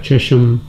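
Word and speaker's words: Chesham: How do you spell that? Cheshum.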